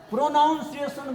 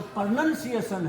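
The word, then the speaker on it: pronunciation: प्रोनाउंसिएशन बोल जाते हैं, वो प्रोनंसिएशन है। OUN नहीं है, वो PRONUN है, CIATION है, प्रोनंसिएशन बोलते हैं।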